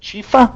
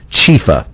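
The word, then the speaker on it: Chiepha: I believe we say it Chifa.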